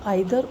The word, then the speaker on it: either: लोग जो है वो इसको हम आइदर और कहा करते थे। ठीक है, लेकिन टाइम के हिसाब से प्रोनाउंसिएशन, वर्ड्स का प्रोनाउंसिएशन चेंज होता है, तो आज की डेट में हम इसको ईदर और बोलते हैं।